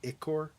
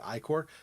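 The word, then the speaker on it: ichor: need to be careful icker is spelled i-c-h-o-r and he says iccor or he might even say i-core but he has the CH as a k there but he won't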